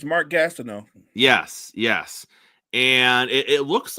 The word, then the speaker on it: Gastineau: butcher it, so I'm not gonna try to pronounce it. I got you, partner. It's Mark Gastineau.